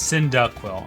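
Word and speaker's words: Cyndaquil: Is it synindo or sindee quill? It's synindaquil. Okay, that's really funny.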